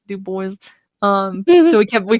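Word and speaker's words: Dubois: to say I think we should talk about D boys so you guys do boys it's pronounced d Boys by the way spelled duu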